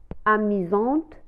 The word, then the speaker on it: amusant: وهو يعني شخص مرح أو amusante مرحة. كما لاحظتم لا لتر اس تنطق على شكل la lettre Z, amusant.